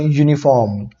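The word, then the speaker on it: uniform: एई आई ओ यू बट यहां पे मैं प्रोनाउंस कर यूनिफॉर्म तो मेरा जो यह होता है य यूनिफॉर्म तो य आता है यहां पे ओके इसलिए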